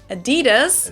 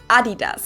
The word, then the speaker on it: Adidas: let's see what we got because they usually pronounce it Adidas Adidas and in Germany we say Adidas Adidas Adidas Adidas Adidas Adas super different it's